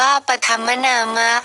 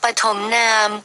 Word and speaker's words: ปฐมนาม: พรรษา หลวง ปู่ เหยี่ยม ปฐมนาม อ่าน ว่า ปธม นามะ หรือ ปฐมนาม เกิด ใน รัชกาล ที่